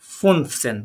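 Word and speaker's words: fünfzehn: আমরা এটাকে কি বলবো রয়েছে বলেন তো ইয়া ফুনসেন তাই না ফুনসেন এটা ওমলা উঠাবে খেয়াল রাখবেন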